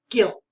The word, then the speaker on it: guilt: okay four is guilt so the you is silent it's just guilt okay when ella broke